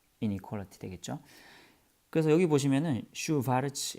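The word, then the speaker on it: Schwarz: 그래서 여기 보시면은 슈바르츠 이게 W가 V 발음 나는 건 다시 독일 사람이에요. 혹은 이제 아인슈타인 이것처럼 EI가 아인슈타인.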